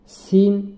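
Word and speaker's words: س: সিন তদ্রূপ, জায়ের মতোই সিনের উচ্চারণ করার সময় জিহ্বার আগা সামনের নিচের দাঁতের গোড়ার সঙ্গে লাগিয়ে উচ্চারণ করতে হবে।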